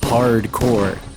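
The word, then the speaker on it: HardCorps: Rusty is the commander of the Freeport City's largest security force, Hardcore, and it's spelt like corpse, but you know, like because it's military, you actually pronounce it as core.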